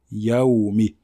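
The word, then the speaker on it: יَوْمِ: Donc il faut bien dire ya et pas yo. Et nous verrons avec la deuxième erreur pourquoi certaines personnes ne prononcent pas bien la fatha du mot ya. Donc là, ici, on ne dit pas yo, mais on dit ya, yaoumi.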